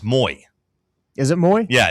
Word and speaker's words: Moy: Like if you look at their pronunciation guide, like on his bio, it says It's Moy, like Jackson Moy, basically.